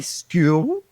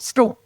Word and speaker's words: school: So, for instance, we don't say school or school like you do in other parts of Australia. No, quick and short, school. Okay? I'm going to school. Really? So the L is almost non-existent at the end.